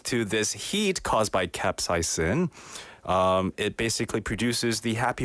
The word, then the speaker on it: capsaicin: capsaicin 들어보셨죠, 여러분? capsaicin 영어로 스펠링은 capsaicin. Sounds like the captain of a boat called Saizen.